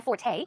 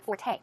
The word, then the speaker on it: forte: use of the word Forte okay it's f o r t but it's pronounced Forte the stress goes on the second syllable okay it's not Fort it's Forte Forte it means that